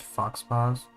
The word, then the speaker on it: Faux Paw: called faux paw but it's like canonically supposed to be pronounced fox paws and it's about foxes.